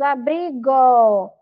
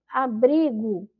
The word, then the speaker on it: abrigo: Já aqui, ó, muito e abrigo são palavras que quando nós pronunciamos, elas têm um som, né, como se tivesse um u ali no final, porque nós não pronunciamos abrigo. Nós pronunciamos abrigo.